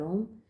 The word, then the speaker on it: ओम: लेते हैं तीन बार ओम। ओम के शब्द में तीन शब्द आते हैं। उच्चारण में तीन शब्द आते हैं। अ, ओ और म। तीनों शब्दों का उच्चारण लंबा कीजिएगा। हर शब्द को लंबा खींचने की कोशिश करें।